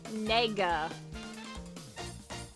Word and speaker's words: Nega: Eggman Nega. I have to pronounce that very carefully. Yes, I can! Nega for negative.